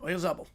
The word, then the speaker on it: Oyarzabal: Yep, Oyarzabal. That's how he says it, at least. That's how he says in the pronunciation guide.